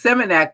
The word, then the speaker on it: Seminak: It's Seminak, but it's spelled semen with an AK.